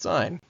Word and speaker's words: sin: So s is pronounced sign.